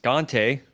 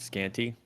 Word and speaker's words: Scante: scanty uh spoiler alert it's pronounced scante not scanty uh even though that's how everybody seems to pronounce it but here happy to